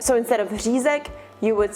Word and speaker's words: Řízek: Children take a while to learn it, but if you're trying to mimic that sound, maybe opt more for a Ž sound. So instead of Řízek, you would say Řízek, or you could just say Schnitzel.